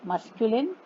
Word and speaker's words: masculine: मस्क्यूलिन gender, मस्क्यूलिन, मस्क्यूलिन 3 syllables हैं.